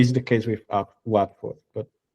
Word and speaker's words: Watford: I live in Watford, which is really strange because it's written Watford. The pronunciation, for some reason, is Watford.